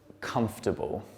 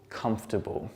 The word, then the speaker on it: comfortable: one on the screen comfortable comfortable again we don't pronounce this second oh and the are there and it just turns into comfortable and now I'll take